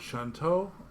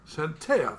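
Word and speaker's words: Chauntea: human vaines priest of shanto shanto or shanto am I pronouncing that right shantea shantea thank you the Earth Mother he's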